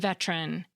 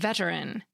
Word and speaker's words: veteran: weak or reduced vowels, like in the pronunciations prob'ly, chocolate, and veteran. Each of these words technically has three syllables, probably, chocolate, and veteran, but we often shorten them to two in everyday speech.